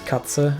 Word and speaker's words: Katze: So I can pronounce Katze, of course.